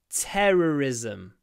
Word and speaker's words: terrorism: it possible to stop terrorism this word has a lot well it has two rut sounds in it so it's quite difficult to pronounce terrorism terrorism especially if